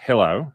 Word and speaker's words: Hillowe: so i have asked a legal expert bruce hello is that am i pronouncing it correctly yes yes thank you bruce hello um who is a new york state attorney